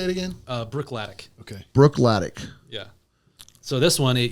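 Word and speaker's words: Bruichladdich: go how do you say it again uh Brook latic okay Brook ltic yeah so this one it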